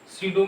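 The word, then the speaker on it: pseudo: सीडो में P silent रहती है, ठीक, पी साइलेंट रहती है, PSEUDU, सीडो यूनिमोलिकुलर रिएक्शन।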